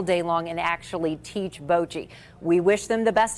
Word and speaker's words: bocce: saying I think box yes it's Bochy that's how they pronounce it here in Kansas City okay all right Angie